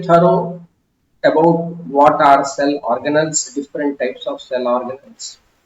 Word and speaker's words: organelle: Okay, some people pronounce it organelle. It's not appropriate. You have to say organelle.